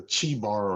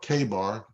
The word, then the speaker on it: Chebar: captives by the river of either Chebar or Kebar, depending on whether or not you use the hard K, that the Shamayims were opened and I saw visions of Elohim.